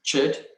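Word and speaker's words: Chöd: then she started um practicing chid which is spelt c-h-o-d which means severance or to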